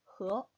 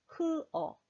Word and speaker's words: 和: 다음으로 전치사가 있네요. 허, 네, 발음 허어. 허, 우리 일성으로 허 하게 되면 마시다가 되죠. 네, 일성으로 하게 되면 한자가 다른데 발음이 일성으로 하게 되면은 我喝咖啡. 네, 我喝普洱茶. 그때는 일성이에요, 마시다는. 이성으로 하게 되면은 허, 네, 한자도 바뀌고 의미도 달라지죠. 누구누구와, 네, 그리고라는 의미가 됩니다.